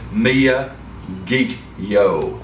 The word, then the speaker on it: Miyagikyo: we should do is just clarify Mia kikyo me a geek you me a geeky oh that's how you pronounce it yeah a lot of people wonder how the how you know we struggle with it'll be ourselves so Mia geek yo he kills and the